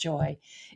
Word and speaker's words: Joie: that name Joy somehow even though it's still pronounced Joy it felt a little